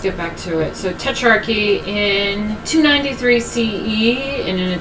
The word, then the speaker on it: Tetrarchy: So, Tetrarchy in 293 CE, in an attempt to restore order to the Roman...